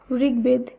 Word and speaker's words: ঋগ্বেদ: শব্দগুলিকে যখন আমরা শুদ্ধভাবে উচ্চারণ করব তখন বফলার উচ্চারণের কোনো পরিবর্তন হবে না। তাই দিগ্বিদিক, দিগ্বিজয়, দিগ্বলয়, ঋগ্বেদ এই প্রত্যেকটি শব্দের উচ্চারণ একই হবে।